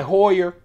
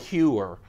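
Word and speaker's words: Heuer: This is my Hoyer. Why did I say Hoyer? Oh, someone says that's how you pronounce it. I'm going to call it Hewer.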